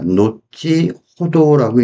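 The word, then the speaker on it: のちほど: 노치호도라고 읽는 거 조심해 주시고요.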